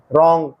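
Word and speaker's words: wrong: में उच्चारण नहीं होता अब इन शब्दों का उच्चारण करें डब्लू आर ओ एन जी रंग के एन ओ डब्लू no netting honest सम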